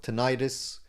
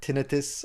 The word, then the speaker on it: tinnitus: show the signs of tinnitus or tinnitus. I always don't like that pronunciation, but some people use it for whatever reason.